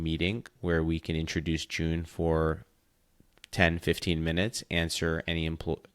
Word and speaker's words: JOON: as in the month it's June as in Jo N.O correct yes so June